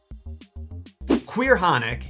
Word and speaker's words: Caorthannach: Caorthannach, yes, that's really how it's pronounced, has gotta be one of the scariest creatures in Celtic folklore, which makes her obscurity all the more tragic.